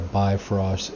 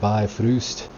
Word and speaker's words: Bifrost: for all of our BY frost. And it'll all start with BIFF, you know, short for by frost. Uh, funny story, it's actually pronounced by Fust. Uh, it is a Danish word.